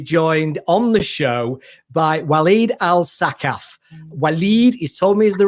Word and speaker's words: Walid Al Saqqaf: today to be joined on the show by waleed al sakhaf he's told me is the right pronunciation i was a bit worried about it